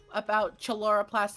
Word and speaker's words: chloroplast: I learned about chloroplast and chlorophyle today. You Books mean are one. chloroplast? Books have. That's how you pronounce it.